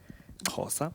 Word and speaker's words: Xhosa: Xhosa, yes.